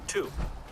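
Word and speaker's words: Tiw: but it is named after the god Tu, which is spelled T-I-W.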